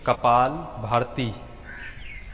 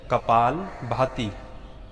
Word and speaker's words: कपाल भाती: अक्सर लोग उच्चारण करते हैं कपाल भारती, परंतु मूल या असल शब्द है कपाल भाती।